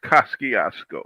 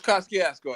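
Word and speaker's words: Kosciuszko: And no, no disrespect to the Polish, our Polish friends, but it's Kaskiasco. It's Kaskiasco. And you know what? I don't care if they feel disrespecting or not. It's Kiasco because just like you said, it's it's history.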